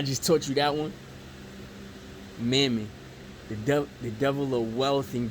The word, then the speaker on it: Mammon: This devil is called Mammon. Alright? It rhymes with famine with an M.